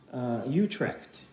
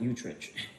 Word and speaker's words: Utrecht: And yeah, this is pronounced Utrecht, not Utrecht, Utrecht.